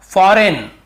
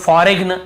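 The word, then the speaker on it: foreign: फॉरेन, बहुत से लोग फॉरेग्न ऐसे पढ़ते हैं, मतलब याद रखने के लिए कई लोग ऐसे फॉरेग्न ऐसे बोल देते हैं, लेकिन हमें बोलना नहीं है। लिखते समय हाँ आप गलत पढ़ के लिख सकते हो, लेकिन आदत ना पड़ जाए कहीं आपकी। फॉरेग्न ऐसे नहीं पढ़ने में, फॉरेन पढ़ना, यहाँ पर भी जी साइलेंट है।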